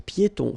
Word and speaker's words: piétons: Un passage pour piétons. Final S here, not pronounced, and then final not pronounced.